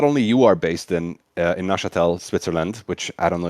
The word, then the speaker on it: Neuchâtel: So not only you are based in Neuchâtel, Switzerland, which I don't know if I pronounced correctly. Actually, did I pronounce it correctly? Neuchâtel. Neuchâtel.